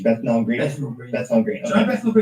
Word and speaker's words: Bethnal Green: So I went to what's the pronunciation? Bethnal Green.